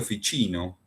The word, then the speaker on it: Ficino: Florencia vivió un tal Marcilio Fichino, se escribe Ficino, entre los años 1433 y 1499.